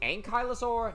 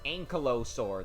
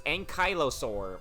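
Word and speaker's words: Ankylosaur: So blue is tracer and and pink is an ankyosaur. Also, it's Ankyosaur, not Ankallosaur. That is stupid. It's Ankyosaur. I don't know why they changed the pronunciation.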